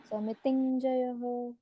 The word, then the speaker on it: समितिंजयः: अनुस्वार का उच्चारण है टी के ऊपर अगर अनुस्वार होता तो उस अनुस्वार का उच्चारण इ्य ऐसे होता समितिंजयः ऐसे समिति लाइक आई एन जी इंग समितिंजय ओके आई एन जी नहीं आएगा इसमें आई एन ओ समितिंजयः yes ma'am ये जो